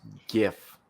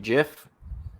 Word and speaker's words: GIF: with that, but like graphic is a G. That's a hard G. Doesn't matter. Girl, graphic, grape, gorilla, G. It's GIF. He's wrong. And you know what? You go around pronouncing it GIF.